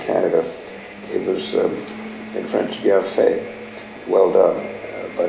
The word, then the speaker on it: Bienfait: It was in French Bienfait, well done, but everybody in Saskatchewan pronounced it as bean fate.